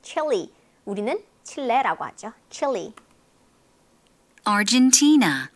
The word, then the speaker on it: Argentina: Argentina, 네, 헨 아니에요. 아르헨티나. T의 강세 있어요.